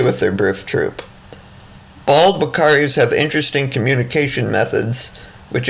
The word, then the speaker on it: Uakari: And even though they are called Wakaris, their name is spelled Uakari.